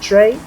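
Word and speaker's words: Trer: the name is pronounced trey the r at the end is silent linguist will fight me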